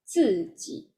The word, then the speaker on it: 自己: How to pronounce Z? Is the Ji. like the tip of our tongue. So this one will be Ji. 自己 Okay.